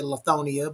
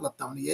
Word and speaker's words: Lithonia: Make sure if you're in the, I always say it wrong. I say Lithonia, but it's not Lithonia. It's what, Leslie? Well, actually, you can say it two ways. I say Oh, Lithonia. Really, most people say Lithonia.